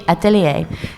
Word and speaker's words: Atelier: it's a French word it's supposed to be atellier and it means like Workshop I like that